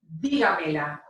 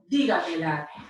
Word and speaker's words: dígamela: in the other sentences, is pronounced dígamela, dígamela, and it is spelled Digamela with an accent mark over the I.